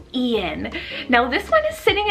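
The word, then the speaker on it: Eun: the girl side and it's the name ian but spelled e-u-n ian now this one is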